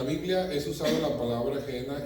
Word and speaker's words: Gehenna: Ok, en español algunos lo escriben G-E-H-E-N-A, G de gato, E-H-E-N-A, Gehenna.